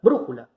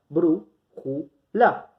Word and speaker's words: brújula: Tenemos la palabra brújula. Bru-ju-la. En este caso, contamos. Sílaba 1, sílaba 2, sílaba 3, es esdrújula, entonces lleva tilde.